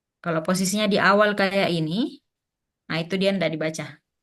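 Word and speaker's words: 이: Li ya Jadi sebenarnya untuk Li ee itu dia memang cara baca yang asli itu adalah i bukan Li cuma ketika di ee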